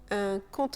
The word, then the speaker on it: compte: Le P de baptême est silencieux. Et c'est la même chose pour ce mot, un compte en banque, un compte.